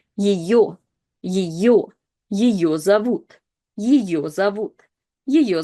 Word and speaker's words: ее: Yo is the letter that is always stressed, which means that the first ye is not stressed and again is reduced to this kind of like yi sound. Ее, ее зовут, ее зовут, ее зовут Людмила.